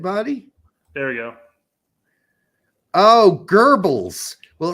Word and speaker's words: Goebbels: And it's pronounced Goebbels?